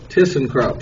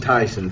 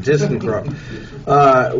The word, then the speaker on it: ThyssenKrupp: So we have a representative is, how did I pronounce it? ThyssenKrupp. See, I just said Tyson. ThyssenKrupp.